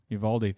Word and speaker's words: Uvalde: Uvalde.